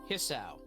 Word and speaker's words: Hisao: Hisao.